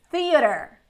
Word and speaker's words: theater: American English, we're gonna say theater. Movie theater. I've already heard, I don't know if it's Canadian English, but theater. Not the A, just theater. I think it's Canadian English. But here in the US, they say theater. And British, they pronounce the T, so theater, or something like that.